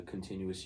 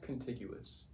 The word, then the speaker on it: contiguous: those 50 states or in 48 states in the continuous United States I think it's pronounced contiguous contiguous I I I just